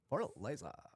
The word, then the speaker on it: Fortaleza: Fortaleza.